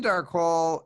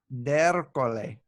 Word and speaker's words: D'Ercole: So it's Darcol in like the real world, but you've gotten me under the French pronunciation on that before, Italian. or the Sicilian pronunciation of something, right? Ercole. D'Ercole.